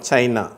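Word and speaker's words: China: இன்னொரு உதாரணம் சைனா. சைனா கடைசியில் அந்த அ அதில் முடியுது பாருங்கள், சைனா அப்படின்னு சொல்லிட்டு அந்த அன்ற உச்சரிப்பு சைனா.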